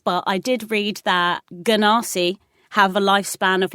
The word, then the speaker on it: Genasi: Is it a Genasi? Or a Genasi. It's a hard G. A Ganassi.